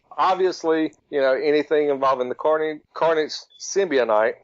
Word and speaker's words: symbiote: It is a long O or a soft O, but a lot of people pronounce it symbiote.